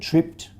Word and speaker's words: tripped: In the word tripped, of course, it's t, so the e is silent, but this p is also silent.